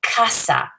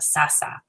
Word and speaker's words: casa: So for example, casa, that's a hard C as opposed to sasa.